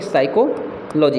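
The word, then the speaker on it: psychology: है साइकोलॉजी ठीक है साइकोलॉजी यहां पे पी साइलेंट है साइकोलॉजी ठीक है इस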